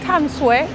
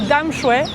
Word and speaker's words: Tamsui: Il est 9 h du matin, on va prendre le métro direction Tamsui ou Damshui, on a vu plusieurs prononciations possibles, qui est au bout de la ligne rouge en métro.